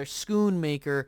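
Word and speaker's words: Schoonmaker: but you know you get Luke Shoon or schoon maker excuse me I've been mispronouncing him you know his name and I'm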